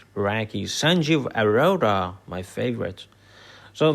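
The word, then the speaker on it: Räcke: And that's the work of people like Rohit Kandekar, Umesh Vazirani, Satish Rao, Harold Raki, we should pronounce it Raki, Sanjeev Arora, my favorite.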